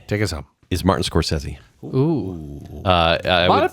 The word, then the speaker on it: Scorsese: Scorsese. Scorsese.